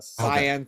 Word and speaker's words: Cyan: Yes, Cyan for some people. If that's how you like to pronounce it. I pronounce it Cayenne.